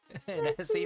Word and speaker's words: Nessie: Nessie. Nessie rhymes with Essie.